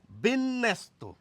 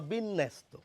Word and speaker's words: বিন্যাস: যাচ্ছে অব্যক্ত বিষয়টি পরিষ্কার দেখুন বিন্যাস্ত বিন্যাস বলি না আমরা আমরা কি বলি বিনস্তবা বা বিন্যাস্ত এভাবে বলি। তো এটি কেন হচ্ছে? ন এর সঙ্গে জফলা যুক্ত রয়েছে। সেইজন্য নটি দেখুন দুবার এসে যাচ্ছে উচ্চারণে।